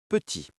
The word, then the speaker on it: petit: Le mot petit. P-E-T-I-T. Si vous prononcez le T final, vous brisez la mélodie.